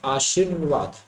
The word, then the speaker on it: आशीर्वाद: Original हम जैसे उच्चारण करते हैं तो बोलते हैं कि आशीर्वाद, आशीर मतलब पहले श बाद में र का साउंड, क्या कहा, पहले श बाद में र का साउंड।